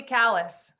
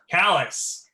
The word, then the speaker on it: Calais: not please correct me that would be kallus kalas excellent jim do you